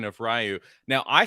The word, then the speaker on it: Ryu: Like you would roll your R and just say the YU.